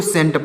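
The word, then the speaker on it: scent: नहीं पढ़ा जाता है इसको स्केन नहीं पढ़ेंगे इसको इसके स्केंट नहीं पढ़ेंगे इसको सेंट पढ़ेंगे यानी इसमें सी साइलेंट है सी साइलेंट है सी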